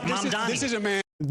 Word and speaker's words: Mamdani: Mamdani's right. He's never done anything, period. Mr. Mamdani. This is a man who Mamdani. Just say the name right, Mamdani.